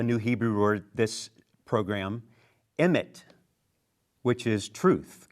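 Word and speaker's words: אמת: I learned a new Hebrew word this program, emet, which is truth, correct?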